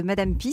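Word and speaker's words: madame Pee: est la fondatrice de madame pis ça s'écrit pee je précise c'est une urinoirs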